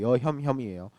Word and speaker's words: 여혐혐: 제가 발음 잘못한 거 아니고 여혐혐이에요.